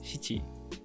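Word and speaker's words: 七: When counting in Japanese, 4 and 7 are usually shi and shichi. But shi is the pronunciation for this kanji, which means death. Shichi also has a negative connotation, so the alternatives yon and nana are used in everyday life more frequently.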